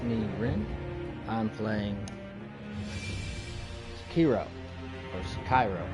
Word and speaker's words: Sekiro: I pronounce it Sekiro just because KI by itself, from my Dragon Ball Z knowledge, is Ki, Kai. So I just assume maybe since this is, dealing with samurais and the Asian culture, it'd be Sekiro.